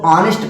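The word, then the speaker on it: honest: हॉनेस्ट थोड़ी पढ़ा जाता है मेरे भाई, हॉनेस्ट नहीं पढ़ा जाता, हॉनेस्ट नहीं पढ़ा जाता, इसको ऑनेस्ट पढ़ा जाता है, क्योंकि यस क्या होता है? साइलेंट होता है, इसलिए यहाँ पे आ का उच्चारण होता है।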